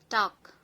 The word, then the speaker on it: talk: Hi everyone, silent letters. L silent words. Talk, మాట్లాడు.